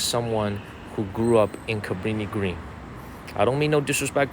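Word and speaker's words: Cabrini-Green: from the movie Candyman Cabrini Green not caprini green I used to take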